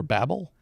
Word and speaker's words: Babel: Babel and wait wait it's not rains over Babel it's spelled Babel okay like the tower not babbling okay Babel rains over Babel and